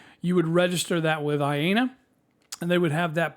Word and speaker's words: IANA: assigned to them by i believe it's iana i think is how you pronounce it then after the 1024